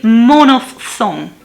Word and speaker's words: monophthong: dive song um let me double check the pronunciation of monophthong and diphthong i was right i was right it's a monoph song it's a greek word man of song meaning